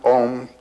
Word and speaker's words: Om: It's written A-U-M. You start in the back of the mouth, ah, and then oo, you fill the mouth, and closes at the mouth. And when you pronounce this properly, all vowel sounds are in that pronunciation.